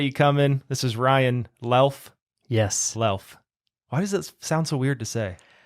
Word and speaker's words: Luelf: Yeah, and if you're looking for me, it looks like Luelf because it's spelled Luelf as in Frank, but it's pronounced Lelf, like self.